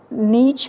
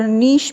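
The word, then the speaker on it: niche: इसको नीच भी प्रोनाउंस किया जाता है और नीश भी प्रोनाउंस किया जाता है।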